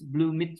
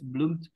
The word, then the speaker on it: bloomed: There's someone who say I heard that one is bloom it. So bloom it is not bloom it, it's bloomed.